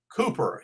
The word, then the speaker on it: Cowper: Here's a quote from Cooper. His name is spelled Cowper.